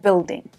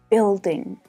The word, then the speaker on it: building: So notice that you can't hear the U, right? It's silent. Building, building. Now, this can actually be quite a challenge for native French speakers. In the word build, built, building, builder, in all of them, the U is silent. It's the I vowel sound, the short I.